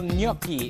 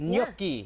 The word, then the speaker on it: gnocchi: reveal gnocchi.